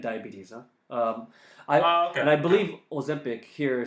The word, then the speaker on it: Ozempic: I think it's Ozempic and Wegovy. Okay, I believe that's the pronunciation. Say that again. Ozempic. Ozempic. What's the other one? Wegovy. Wegovy. Yeah, I believe that's how you pronounce it.